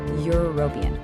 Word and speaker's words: European: But just listen to how you say it. Europian. That first sound, that Y sound is a consonant.